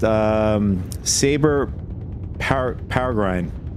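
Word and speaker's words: Sabre: In that video I made, I I mis mispronounced uh Saber. I said savory.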